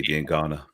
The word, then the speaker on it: Diangana: But there's wingers there I would have worked to see gone well before I wanted to see Diangana. That is how you pronounce it, Kojo.